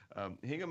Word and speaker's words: Hingham: so I had to I want to say gingham because the the pronunciation is a little different than it looks Hingham Mass Massachusetts and he's